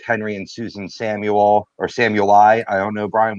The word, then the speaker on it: Samueli: and Susan Samuel, or Samueli. I don't know, Brian, what's the pronunciation? Somali. Sumali. Ooh, Somali. Sumali.